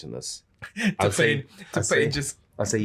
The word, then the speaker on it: T-Pain: It's pronounced T-Pain. There's no emphasis on the T. It's T-Pain.